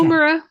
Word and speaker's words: Woomera: Did I pronounce that right? Yeah, Okay. Woomera.